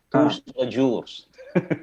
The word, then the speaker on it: Tous-les-Jours: Iya, Pak Budiman ini dari, saya mohon maaf ya kalau saya salah bacanya ya, Tous-les-Jours.